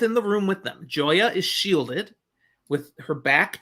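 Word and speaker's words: Joiya: Joya Bayer.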